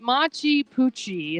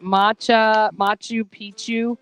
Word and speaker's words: Machu Picchu: It's not, but Machu Picchu. Is that how you say it? Machu Picchu.